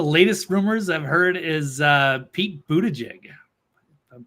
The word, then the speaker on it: Buttigieg: I think one of the latest rumors I've heard is Pete Buttigieg. If I'm pronouncing that right. Yes. I hear Buddha judge. Buddha judge. Like he's judging Buddhas.